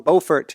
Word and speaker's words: Beaufort: And hi out there, thank you for the email from Beaufort. We found in this town called Beaufort, if I'm pronouncing it right. Beaufort. I think North Carolina is Beaufort, and it's Beaufort in South Carolina.